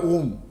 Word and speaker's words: ওম: অ, উ আর ম, এই 3টে শব্দ যোগ করে হয় ওম।